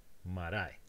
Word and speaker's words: marae: However, the rule says that the stress must go on the leftmost heavy, and that one is indeed the leftmost heavy. So the stress goes here, marae.